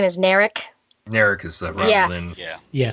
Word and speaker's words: Narek: Narek is the Romulan.